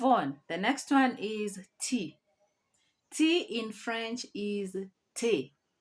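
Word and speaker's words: thé: masculine let's move on the next one is tea tea in french is te te and with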